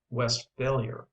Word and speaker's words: Westphalia: are edible but the Westphalia have in my judgment is greatly overrated it is pronounced West failure with the accent on the last part where it belongs in Germany however there